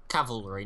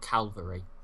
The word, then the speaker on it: cavalry: Cavalry, not Calvary. Calvary? Cavalry. Not Calvary. Cavalry. You know what? Fuck you. C-A-V-A-L-R-Y, not C-A-L-V-A-L-R-Y, or whatever the fuck you're pronouncing it as.